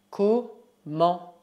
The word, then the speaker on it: comment: Comment? Comment? Cuidado, o T final é mudo.